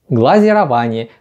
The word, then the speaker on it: глазирование: то чем покрывают глазурью не следует путать название этого процесса в отрасли производства кафельные плитки процесс называется глазурование от слова глазурь Но поскольку мы рассматриваем пищевое производство то важно правильно произносить название процессов глазирование глазировочная машина Итак схема